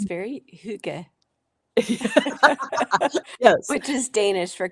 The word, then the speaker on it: hygge: So Hygge. I could be, it's something like that. Yeah, Like yeah. you say a Y with a O-shaped mouth. Hygge.